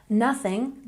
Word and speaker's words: nothing: Nothing, don't forget we've got that TH sound in here. Remember to stick your tongue between your teeth. And we stress the first syllable.